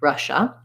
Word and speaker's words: Russia: this germ germany and then for russia again in american english first syllable stress letters ss here say the sh sound so it sounds like rush and then the i has no sound and the a says the uh sound russia and lastly poland we